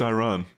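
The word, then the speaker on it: Ayran: And uh Ka, I don't know how you pronounce it. Is it Aan? Iran. It's Iran.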